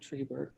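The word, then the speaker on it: Treibert: I'm not sure how to pronounce it. He says it Tribert. So I'm going to go with his pronunciation.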